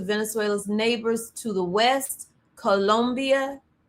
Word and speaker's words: Colombia: Just hours after the operation, Trump turned to Venezuela's neighbors to the west, Colombia. And I say it like that because I'm from Columbia, South Carolina, but Colombia.